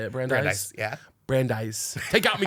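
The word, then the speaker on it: Brandeis: bry's Bry brandise how do you say it brandise yeah brandise take out me getting it wrong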